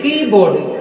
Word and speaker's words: keyboard: So that it is a compound word, so that stress is on first syllable.